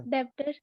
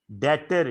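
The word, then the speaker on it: debtor: मैंने कहा B silent है, बोलो दोबारा। ट्रेड, सर क्या सर? डेबिटर डेबिटर डेटर, डेबिटर डेटर, DETER, बोलने में ऐसे है, लिखने में डेबिटर।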